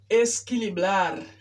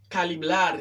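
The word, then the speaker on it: equilibrar: Haïtien qui sont dominicains, ils prononcent ça caliblar. Il y a possible dominicain qui a mal prononcé. Ils dit calibrar ou bien escalibrar, pero las palabras no es calibrar, sino esquilibrar.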